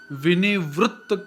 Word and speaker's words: विनिवृत्त: जैसे यहाँ पर विनिवृत्त कामः शब्द आया हुआ है, तो यहाँ पर त में डबल त आया हुआ है। विनिवृत्त कामा सिंगल त, विनिवृत्त कामः डबल त हो गया।